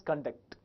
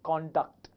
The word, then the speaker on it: conduct: If it is used as a verb, we pronounce it as conduct. Whereas, if it is used as an adjective or a noun, we pronounced as conduct. That is the only difference.